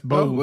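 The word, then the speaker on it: Beau: looked at her name it's spelled b e Au I'm sorry B auau so I've I've always is that's Bo right that's Bo yeah Bo that's Bo okay I mean maybe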